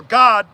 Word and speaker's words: Gad: David through the sear Gad or God as you would pronounce it in the Hebrew right AB God God